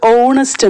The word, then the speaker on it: honest: ഇനി നമുക്ക് HONEST നമ്മൾ ഉച്ചരിക്കുന്നത് ഓണസ്റ്റ് എന്നാണ്, പക്ഷെ അവിടുത്തെ തുടക്കത്തെ അക്ഷരം H ആണ്, അവിടെ നമ്മൾ ഉപയോഗിക്കുന്നത് ആനാണ്.